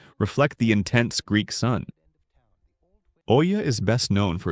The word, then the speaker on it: Oia: OIA, Greece. Santorini's crown jewel. Arguably one of the most photographed towns in the world, Oia, pronounced Eea, sits on the northwestern tip of Santorini in the Aegean Sea.